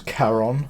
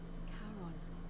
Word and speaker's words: Charon: It's just as you described it, only your pronunciation is a little off. The name you heard wasn't Karen. It was Charon. C-H-R-O-N. Yeah. Got it. As in Charon, the ferryman of the dead.